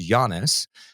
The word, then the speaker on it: Giannis: so I super apologize I was incorrect it's Giannis um phonetically it does look like y to my credit but